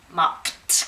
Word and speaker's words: mopped: Now, I'm going to ask you, how do you pronounce this? Mopped.